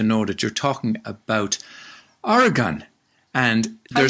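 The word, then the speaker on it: Oregon: that you're talking about orgon and there say that well I think the locals say organ organ organ almost like like an organ with an eye like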